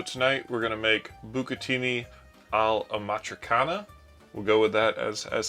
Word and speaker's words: bucatini all'amatriciana: Alright, so tonight we're going to make bucatini all'amatriciana.